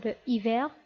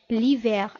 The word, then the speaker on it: l'hiver: On ne peut pas dire le hiver tout simplement parce que le nom hiver commence par un H muet. Donc, on remplace l'article défini le par l'article défini L' et on dit l'hiver, الشتاء.